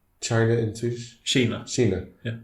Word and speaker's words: Kina: Kina.